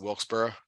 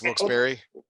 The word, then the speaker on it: Wilkes-Barre: I've always pronounced it Wilkesboro, and it's Wilkes-Barre.